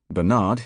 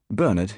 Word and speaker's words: Bernard: Bernard, forename and surname, is perhaps a more typical case. Bernard in USA, Bernard in UK. Though the surname is tending to follow US convention over here, and the BBC lays it down.